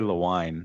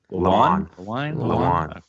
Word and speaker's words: Lewan: Yeah, I think it's Taylor Lewine. I think it's Lewan. Is it Lewan or Lewine? Lewan.